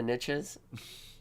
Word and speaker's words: niche: Well, a lot of people say niche. Yeah, that's stupid. I pronounce the it niches niche. of the niches. You can Google it, and you're allowed to say it either way.